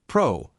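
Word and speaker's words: πρό: Progressive reception of honor the Greek word pyro is a preposition pronounced Pro can be translated as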